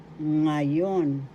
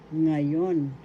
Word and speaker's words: ngayon: nga ng nga example ngayon ngayon english now first syllable second syllable yon the accent is in the second syllable ngayon ngayon now in english